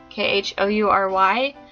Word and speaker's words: Khoury: So I'm not sure if they really count in this scenario, but that's Cecilia Ahern and Jessica Khoury, I think is how you say her last name. Khoury.